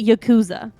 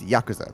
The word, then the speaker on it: Yakuza: of people pronounce it Yakuza yeah is that incorrect it's it's Yakuza the the the emphasis is on the first syllable it's it's the same